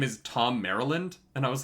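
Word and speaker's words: Merrilin: i was like yeah it's spelled differently i i'm reading it now and i can see that it's spelled um it's not spelt like maryland but they say maryland and i was like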